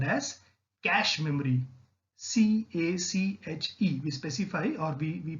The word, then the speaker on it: cache: C-A-C-H-E, we specify, or we pronounce it as cache memory, which is the fastest of all the memory.